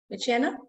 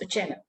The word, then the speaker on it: Uchenna: Michena, I hope I am pronouncing your name correctly. It's Uchenna.